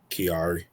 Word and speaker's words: Kiari: Offset Kiari or Kari. How you say his name? Kiari.